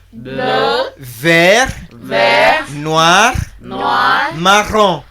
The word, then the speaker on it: marron: Marron. Marron. By now you must realize the impact of the letter R. It is very, very significant in French.